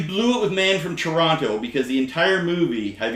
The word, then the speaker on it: Toronto: No one from Toronto says Toronto. You say Toronto. The T is silent.